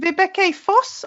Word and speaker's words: Vibeke Foss: Today I'm interviewing Vibeke Foss of Gorgeous Geek. Did I pronounce it right?